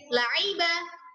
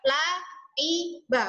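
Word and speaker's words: لعب: Bacanya laiba. Nggak boleh panjang ya, bukan laiba. Nggak boleh, tapi pendek. Laiba.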